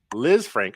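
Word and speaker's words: Lisfranc: Liz Frank.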